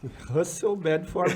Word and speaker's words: Russell Bedford: Falou muito bem, Russell Bedford Brasil. É um pouco difícil para nós, mas essa aí é a pronúncia correta.